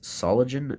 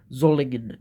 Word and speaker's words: Solingen: a fish and here it says solid germany i keep mispronouncing that sorry zoligan germany um backspring to the